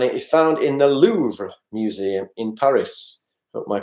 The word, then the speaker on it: Louvre: da Vinci and it is found in the Louvre museum in Paris of my pronunciation was ok auntie Barbara so it's da Vinci and the Louvre or la Lu if you want to go